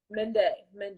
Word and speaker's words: Mende: thanks for having me again make sure I'm pronouncing your name right Mende Mende Mende yes perfect well hi men Danny I'm jasmine